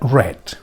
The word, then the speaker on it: read: pasado en participio será red suena alguna palabra que se pronuncia igual pues sí rojo el color bueno pues este verbo